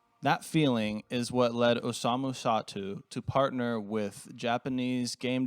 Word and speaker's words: Osamu Sato: for it um the young man's name is Osamu sat so I know what it is I'm sorry